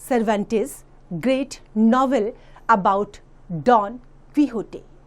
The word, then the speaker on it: Quixote: This is an extract from Miguel D सर्वांटेस great novel about don क्विहोटे, pronounced as Quixote, the eccentric gentleman who fancied himself a knight.